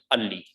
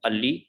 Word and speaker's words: early: If it's in the end, or if it's before a vowel in the end, or if it's before a consonant, we do not pronounce. So it is early.